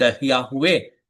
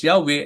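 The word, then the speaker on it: Yahweh: Most likely pronounce Yahwe and it is derived from the word to be no uh to which I am is also related.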